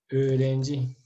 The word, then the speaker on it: öğrenci: Öğrenci. Entonces tenemos el sonido de la vocal O, perdón, en este caso es la perdón, öğrenci, ¿cierto? Öğrenci. Se alarga.